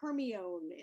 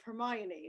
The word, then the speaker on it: Hermione: Now, obviously, I'm not British, and I read the Harry Potter series, and I thought her name was Hermione instead of Hermione, so I could have used that.